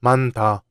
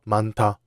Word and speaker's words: 많다: Earlier I said 많다 is not pronounced 만다, but 많다. Why? Because when a final consonant, 히읗, is followed by a consonant like 기역, 디귿, 비읍, or 지읒, these consonants become their aspirated forms, 기역, 디귿, 피읍, and 치읓. In 많다, the final 히읗 is followed by 디귿, so 디귿 becomes 티귿. That's why we pronounce it 많다.